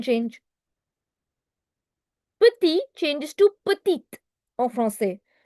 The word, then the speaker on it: petit: I'm not pronouncing the last consonants here, the dipsticks rule. If you've attended previous sessions that I've had, I've mentioned dipsticks rule for people attending for the first time. Dipsticks rule means whenever you find these alphabets or letters at the end of the word, you do not pronounce them.